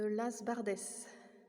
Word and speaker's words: Las Bardes: s'appelle l'église Saint-Jean-Baptiste de las bardès je crois qu'on prononce toutes les lettres ici donc ça doit se dire comme ça l'as bardès alors là ici c'est